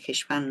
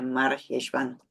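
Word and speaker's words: מרחשוון: que tiene dos nombres no se dice heshan nada más que es scorp se dice mar jeshvan lo que significa amargo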